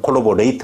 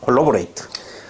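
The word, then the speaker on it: corroborate: 정말 힘쓰이야 그죠 거기에다가 끝에가 ver 서니까 동사 형이니까 어떻게 발음한다 발음을 어떻게 한다 콜로리 콜레이트 어거 트라고 발음해야 돼 동사형 어미 형용사형 미일 때는 콜로리 그러나 여기서는 콜라보레이트 받 콜라보레이트 바로 뭐다 힘 있게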